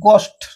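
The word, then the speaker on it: ghost: एच ओ घस्ट नुह H silent रहबो जे एच परे ओ अछि तनि कि गो एटा पढा जिवो एटा पढा जिवो आ एटा पढा जिवो गोस्ट ओके अर्थ भूत गोस्ट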